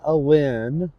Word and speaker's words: Alyn: And again, this is Alyn. It's pronounced Alyn, but it's Alyn.